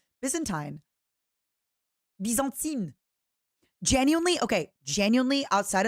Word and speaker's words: Byzantine: Tine tine, not time. Byzantine.